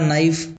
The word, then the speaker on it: knife: उसी प्रकार नाइफ इसका स्पेलिंग इस प्रकार से होता है। किंतु पढ़ा इस प्रकार से जाता है। यानी कि के साइलेंट हो जाता है।